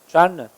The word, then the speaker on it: genre: Her favorite music genre is hip hop. 이거를 우리가 흔히 장르라고 하죠. 영어 발음은 genre입니다.